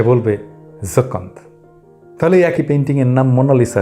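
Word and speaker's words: Joconde: যাই হোক, লুভে এসে জকন্দ উচ্চারণ করুন, তাহলে আপনাকে ফ্রেঞ্চ মনে হবে।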